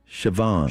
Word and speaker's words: Siobhan: Siobhan. Siobhan. Siobhan, excuse me. Siobhan. Siobhan. I believe. Yeah. Siobhan like a telephone.